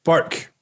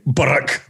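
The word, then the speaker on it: Bourke: fairview right right sunshine b-o-u-r-k-e how do you say it b-o-u bark bark bark why what did you think i was going to say baroque i don't know i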